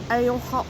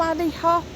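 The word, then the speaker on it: Alehop: Got one of the ale hop shops, or alley hop, however you prefer to pronounce it.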